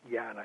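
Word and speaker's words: ज्ञान: which was Yana yoga J na na is pronounced viana it's a funny little nasal sound jnana-yoga which is really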